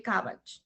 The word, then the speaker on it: CABG: O sea, este paciente tiene una historia de CABG. CABG también, si ustedes buscan, tiene una, digamos, una pronunciación similar a un vegetal. que no me acuerdo, es como repollo, si no estoy El mal.